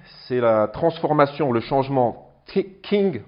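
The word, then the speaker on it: 經: King, bon, ça s'écrit J-I-N-G, ça c'est du pinyin, c'est la transcription phonétique.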